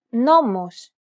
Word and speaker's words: νόμος: This accent just indicates that you need to stress the syllable. That's it. Κάλος, καλός. Νόμος, νομός. Θέα, θεά. Notice how the accented syllables are emphasized? It's pronounced a little bit louder and longer than the surrounding syllables.